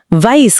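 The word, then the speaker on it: weiß: वाइस का मतलब है नो।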